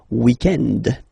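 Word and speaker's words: week-end: So, if we're talking about the weekend, okay, but then pronounce it the French way, weekend.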